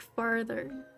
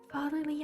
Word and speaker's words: fatherly: Pretty sure I fully pronounced it like farther at one point in my life. Fatherly advice.